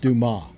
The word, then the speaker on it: Dumas: It's pronounced, by the way, it's pronounced Dumas.